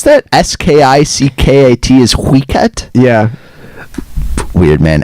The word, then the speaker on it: skickat: Oh, skickat from min iPhone? Yeah, sorry. That's how you pronounce that? S-K-I-C-K-A-T is skickat?